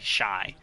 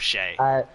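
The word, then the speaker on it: Shai: it's a 50% chance I say shy instead of Shay. It's not as bad as it that one used will really to be, get me going because I love Shay.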